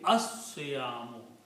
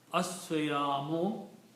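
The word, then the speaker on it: الصيام: And when you pronounce these, because Swad is a Shamsi letter, so you don't pronounce Lam, but you pronounce Swad 2 times. Okay, so the tajweed will be As-Siyamu.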